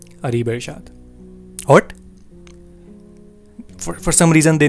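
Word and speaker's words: Areebirshad: me she asked my name what's your name areebeshad what for some reason they never get the pronunciation of my name so i spelled it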